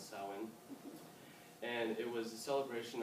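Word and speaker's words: Samhain: Kels um they celebrated a a holiday called sawin it's spelled way off but that's how to pronounce sawin and it was a celebration of the Harvest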